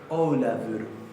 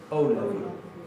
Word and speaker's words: Ólafur: Recuerden que esta F se pronuncia casi como si fuera una B corta. Ólafur. Ólafur.